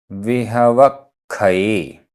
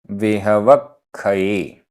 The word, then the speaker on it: विहवक्षये: विहवक्षये, विहवक्षये, आधा क ख, विहवक्षये।